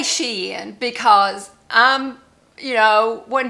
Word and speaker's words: Shein: first got started we all called it Sheen uh you know we do hauls and stuff from Sheen now my granddaughter say no it's Sheen so if I I say Sheen so if I say it wrong I am sorry cuz my granddaughter all five of them correct me and say no it is Sheen so I still sh say Sheen so I got some